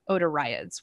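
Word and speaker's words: otariids: eared seals which our odor iods and that is how you pronounce that word with the two eyes in it I had to ask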